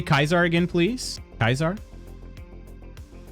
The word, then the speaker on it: Caesar: Kaisar. That's how it's pronounced in New Vegas.